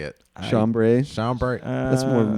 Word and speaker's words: chambray: It's like cambray. How you say it? Chambray.